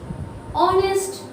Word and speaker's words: honest: is a honest person see why consonant sounds like vowel we are saying like honest it's it sounds like it is started with o okay it is quite